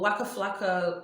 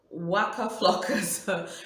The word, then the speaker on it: Waka Flocka: itself i was watching um waka um well wakka flacco well no that's not how i pronounced his name god my pronunciation saying waka flocka's reality show with his wife tammy rivera on